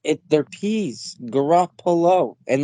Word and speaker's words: Garoppolo: there's still people that I know that can't pronounce Garoppolo, and they say Garofalo, and I'm like, it's That's peas. Janine Garoppolo. I'm like, they're peas, Garoppolo, and like, Maybe if they think there's an